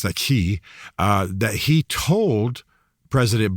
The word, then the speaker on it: Xi: By the way, I want to make very clear that the head of China, uh President Xi, I probably better pronounce that Xi, uh that he told President Biden in San